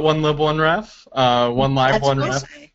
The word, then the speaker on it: 1Lib1Ref: a discussion about this is it one live or one lib pronunciation hi so this is I work at the wik media Foundation support the Wikipedia Library program and one Li one I call it one Li one ref uh one live one